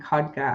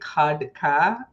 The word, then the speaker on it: Khadka: I loved how you said my last name, Kodka.